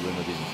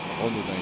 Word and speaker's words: Renaudin: I used to say it like that. It's the English good, you want to say Renaudin, but Renaudin is the name.